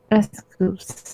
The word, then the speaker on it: S.Coups: 17 is, do I pronounce it S.Coups, Anita? S.Coups.